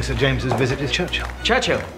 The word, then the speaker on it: Churchill: James's visit his Churchill Churchill that's how you say it all together like that I'd heard Church and Hill but couldn't find either all I could see